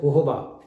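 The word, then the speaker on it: jojoba: हैं वो आई और उन्होंने सुना कि मैं जुजुबा बोल रहा हूँ, तो उन्होंने मेरे को करेक्ट किया और बताया कि जुजुबा नहीं कहलाता, it should be pronounced as होहोबा, तो गलती माफ़, तो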